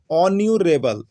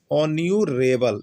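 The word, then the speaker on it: honourable: होता है, राम इज, यहाँ पर एच है लेकिन एच क्या है आपका साइलेंट है, एच साइलेंट है, एच का उच्चारण नहीं हो रहा। तो क्या हो रहा है, ऑन्यूरेबल, ऑन्यूरेबल।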